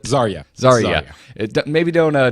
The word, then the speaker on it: Zarya: how do you spell I always pronounce Zarah how is it zarya zarya it maybe don't